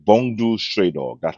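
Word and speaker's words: Bungo: It's Bongdu Stray Dog. That's how you pronounce it.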